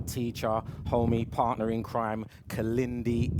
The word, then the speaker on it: Kalindi: Or if you've got a photographic memory, please remember it is spelt K-I-L-I-N-D-I. That is Kalindi.